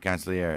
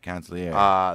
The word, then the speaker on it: consigliere: Right, consigliere. That's what it is. Right, consigliere. That's G is silent.